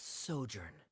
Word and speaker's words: sojourn: is everything clear simos how do you pronounce this word let me see Ah that's sojourn it means to stay for a while this